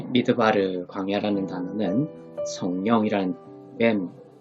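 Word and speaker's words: מדבר: 그리고 맨 끝에 레쉬는 발음 부호가 없기 때문에 리얼로 발음합니다. 그래서 바르가 되죠. 미드 바르가 됩니다.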